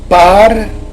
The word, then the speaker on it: part: Je pars, tu pars, il part, elle part, on part. Same pronunciation. The difference is that with the third person you have a T.